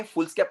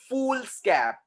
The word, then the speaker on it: foolscap: The real spelling of फुल स्कैप is what? FOOLSCAP. फुल स्कैप. वो फुल स्केप है ही नहीं. अपन बचपन से बोलते आ रहे थे ओ मिस फुल स्केप, ओ मिस फुल स्केप.